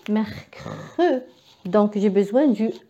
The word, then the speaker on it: mercredi: Après le C qui est que, merc. Après un autre R, merc, merc. Et après je dis mercredi. Donc j'ai besoin du E, mercredi.